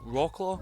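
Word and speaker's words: Wrocław: Now, many people have pointed out that this city is it's a location in Wroclaw, I believe it's pronounced, which is where Ela is born.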